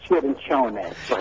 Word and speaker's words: Cirincione: It's Cirincione. You know, somebody told me that, and he's now watching, and he's going to say, you should have said it like I told you, because he taught me how to say it that way, the Italian way. Well, he's very gracious and very sophisticated, but I usually say Cirincioni.